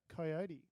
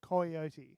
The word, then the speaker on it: Coyote: Peter Coyote.